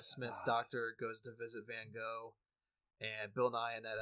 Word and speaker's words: Van Gogh: It's where Matt Smith's doctor goes to visit Van Gogh, and Bill Nye in that episode plays a loving expert on Van Gogh, or Van Gogh, as it is supposed to be pronounced.